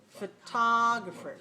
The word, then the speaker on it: photographer: say photographer okay now again we have two letter o's in spelling but they don't have the same sound okay the first one is weak so we just pronounce it like a schwa sound it's weak it's unclear but the second one is clear ah now watch remember